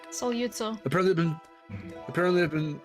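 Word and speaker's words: Sogliuzzo: and that was still, I'm gonna botch his name, Aaron, but it was still, was it Andre Soluzo? Solyutso. Apparently I've been mispronouncing it my whole life.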